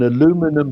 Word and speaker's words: aluminum: work out could a, and I'll give it the American pronunciation, I mean, we Brits would say aluminium, right? An aluminum hulled passenger jet weighing